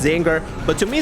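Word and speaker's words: Czinger: yes, I pronounce it Kachinger. I know it's pronounced Zinger, but to me it's the Kachinger and it will never stop being the Kachinger, all right?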